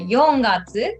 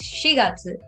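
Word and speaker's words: 四月: july so please remember the fourth month which is april it's not uh young it's shigatsu and july is shigeru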